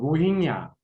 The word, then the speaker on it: 로힝야: 발음이 좀 어려운데 그래서 저는 그냥 로히야라고 발음합니다. 정확한 발음은 로힝야. 로힝야인데 이제 저는 로히야.